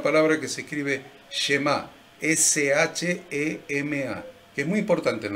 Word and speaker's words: Shema: S-H-E-M-A, que es muy importante en la Biblia. S-H-E-M-A. S-H-E-M-A, que se pronuncia algo como Shema. Shema, así como cortadito.